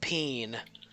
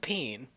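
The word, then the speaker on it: paean: Um, the proprietor of the plaintive peen is reporting that some of his things got stolen. I'm sorry, can you repeat the name? The plaintive peen. S- What? The plaintiff peen.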